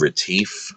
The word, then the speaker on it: Retief: It's called Retief, I think. It's spelled like relief, but with a T.